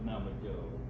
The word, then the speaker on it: Navajo: And this J is supposed to make an H sound, right?